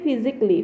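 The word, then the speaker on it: physically: পড়িবো লাগে ঠিক তেনেকে ফিজিক্যালি ফিজিক আছে এ আছে ডাবল এল ওয়াই আছে এতো সাইলেন্ট থাকিব ঠিক তেনেকে মিউজিকলি একাডেমিকলি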